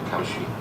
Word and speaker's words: Kalshi: Kalshi, but it's pronounced Kalshi.